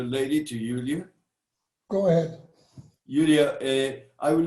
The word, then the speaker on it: Julia: could ask you a question and am i pronouncing your name right julia yeah julia so julie i love the character because she's